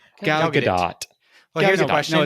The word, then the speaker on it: Gadot: Her confusing advice is that the T is pronounced as a lighter T as a softer T. So we're both wrong. We're all wrong. Gal Gadot. Gal Gadot.